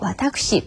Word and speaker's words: 私: 인칭 대명사의 발음, 1인칭 나를 지칭하는 말에 와타시와 와타쿠시 두 가지의 발음이 있음도 알아두시면 좋겠죠.